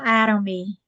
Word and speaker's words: Atomy: out um about uh is it autonomy atom or at a atom? It's called Adom. I I got it all wrong y'all. That made up a whole another pronunciation for it. Atomy.